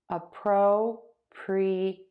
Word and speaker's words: appropriate: Appropriate. Appropriate. Appropriate. Appropriate. And I am stressing the syllable pro.